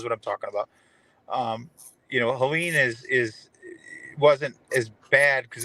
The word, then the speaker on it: Helene: It was stronger and had more damage, I think, than Helen did, or I can never Helene, pronounce it. Helene, thank you.